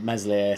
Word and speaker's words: Meslier: So, and Meslier, Silent S, is not really, doesn't